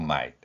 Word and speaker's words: might: 그리고 GH는 거의 소리가 나지 않습니다.